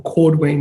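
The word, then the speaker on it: cordwainer: jewelers and shoemakers or cord wayne is the correct way to say a shoemaker a cobbler is a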